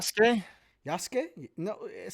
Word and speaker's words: Yasuke: Yasuke? No, it says Suke. Yasuke. Yeah, I know that's how it's spelled, but that's not how you say it.